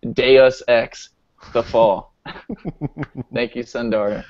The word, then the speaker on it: Deus Ex: Yeah, that it's Deus Ex. Deus Ex. Why don't they just put like like I wish they would spell it phonetically. So it would look cool if it was D-A-Y.